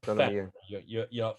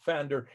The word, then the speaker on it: Pfander: It's like Pfander. Pfander, the name that I call my YouTube site, named after Dr. Karl Pfander. Yeah. It's a German spelling, but there is a P. There's a Pfander.